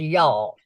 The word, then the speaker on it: y'all: That's pronounced y'all. It's one word, one syllable.